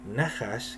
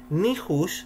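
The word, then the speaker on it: נחש: Pero también la misma letra, ya tenemos dos pronunciaciones, que es Nahash, que es serpiente, Nihush, se escribe igual, tiene las mismas letras, intelecto, un tipo de intelecto, y también se puede pronunciar Nihesh, y al pronunciarla como Nihesh, estamos hablando de predicción, premonición.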